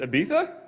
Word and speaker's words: Ibiza: couldn't really tell um I think the correct pronunciation is Ibiza and us Americans would pronounce it as the Ibiza um um there's an